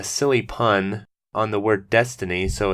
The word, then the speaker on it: DeathTiny: is a really silly title and I think death tiny is actually better so I don't think it's